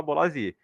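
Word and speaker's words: Bolasie: O Bolazzi, né, até hoje, tem essa discordância aí da pronúncia, porque sempre que ele jogava lá na Premier League, eu ouvi o pessoal falar Bolazier. Aí chegou no Brasil, virou Bolazzi. E pelo visto é Bolazzi mesmo, mas eu não acostumo a falar dessa forma.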